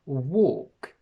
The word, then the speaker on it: walk: But in English, these each have a completely different sound. We have woke, we have walk, work, and wok.